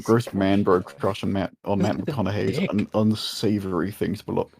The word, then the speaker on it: McConaughey: Your gross man-bro crush on Matt McConaughey's dick. an unsavory thing to behold. This guy's an asshole. McConaughey.